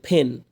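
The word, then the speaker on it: pen: পেন, পেন না কিন্তু ফেন, পির উচ্চারণ আমরা কী পড়ছিলাম, ফি ফ উচ্চারণ হবে, হ্যাঁ, ফাও না পাওনের মাঝখানে, ফেন থেকে ফেন্স, স্টুডেন্ট থেকে স্টুডেন্টস।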